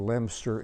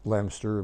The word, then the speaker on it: Leominster: by train immediately to LEM stur England pronounced LEM stir but spell leo minster and from there we